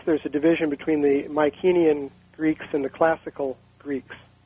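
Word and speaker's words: Mycenaean: my kenyan is that is that also pronounced mycenium or mispronounced mycenium is that the right m-y-c-e yeah okay i just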